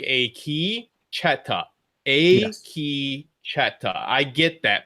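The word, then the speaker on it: Akecheta: A key, you should say a key. It's like a key cheta.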